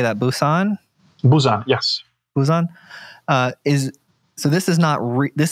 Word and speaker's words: Busan: was curious how do you say that Busan Busan yes Busan uh is so this is not